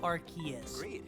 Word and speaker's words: Arceus: is faster than this oh i should say arceus this is arceus and for those that disagree well sorry it's arceus anyway now arceus that's always been the biggest